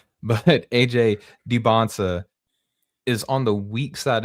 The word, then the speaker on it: Dybantsa: The pick and roll sets are weird because AJ Dybantsa clearly, or Dybantsa, that's what they were talking about on the commentary today. That's the proper way how to say his name.